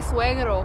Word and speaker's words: suegro: It's my suegro, okay?